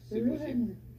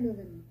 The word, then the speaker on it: Leuven: On peut prononcer Leuven. Leuven. En néerlandais, Leuven.